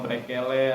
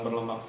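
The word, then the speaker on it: Burle Marx: Burlemax, saya nggak tahu ejaan yang sebenarnya, tapi biasanya ada yang bilang brekele, ada yang bilang burlemax.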